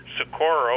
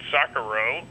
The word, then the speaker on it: Socorro: And he changed the place from Roswell to Socorro, or as he pronounced it, Socorro.